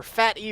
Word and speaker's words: PhatE: completely blew for faith her fatty rather I know that's how his name is supposed to be pronounced I still mess it